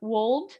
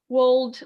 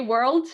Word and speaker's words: world: I don't know, either way, either world or world, but try to pronounce both the R and the L, or just the L, as long as it's understandable. Try and say world, Miss Harry.